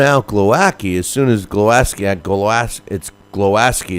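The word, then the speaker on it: Głowacki: Well, you know, he was calling out Glowacki as soon as Glowacki is how they pronounce it.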